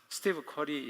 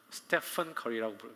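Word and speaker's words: Steph Curry: 스티브 커리 얘기합니다. 스테커리라고 발음하죠.이 사람이 독실한 기독교에서 잘 기독교 가정에서 자랑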